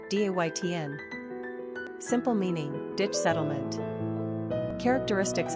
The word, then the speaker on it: Dayton: Pronunciation, Daytn.